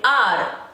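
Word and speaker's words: hour: now in this word the letter H is silent and we call it R I'll meet you in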